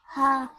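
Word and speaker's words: ح: Now I've drawn a windpipe, and it should be in the middle part of the throat, and it is a halqiya letter, a throat letter.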